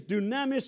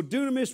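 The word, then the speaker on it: δύναμις: My strength, and the word there is dunamis or dunamis, whichever way you like to pronounce it.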